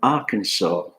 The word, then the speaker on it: Arkansas: 2 American states, which we pronounce with the silent S, Illinois and Arkansas.